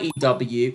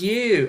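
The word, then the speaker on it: ewe: it's not a white ew it's an e-w-e who me yes ew i'm not sure that works you unless i'm saying it wrong who me yes ue oh it's pronounced you oh there we are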